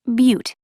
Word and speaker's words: Butte: ea UT is pronounced Butte it's like beauty beautiful